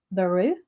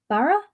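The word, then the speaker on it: Barouh: Um it's been created by uh Alleso Cavatore and Zach Baru Barra.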